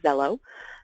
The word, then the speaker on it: Xello: I'm doing um so pronounced kind of like a zed so if you were reading it it would look like Zell um but spelled with an X so when we look